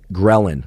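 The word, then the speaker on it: ghrelin: in your body called grein. Sometimes actually called grein. Thanks for all of you greinistas or greinistas that corrected my pronunciation. It's both. Grein or grelin. Either one works.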